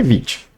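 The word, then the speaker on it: Vite: Construtor o Vit tá Vit é assim que é pronúncia tá gente eu gosto de bater em cima disso aqui no overview da documentação do Vit eles falam que é Vit se você der um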